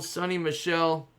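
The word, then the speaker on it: Sony Michel: got a sunday spectacle sunny michelle that's how you say it 50 of 50 for the patriots sonny michael or sonny michelle we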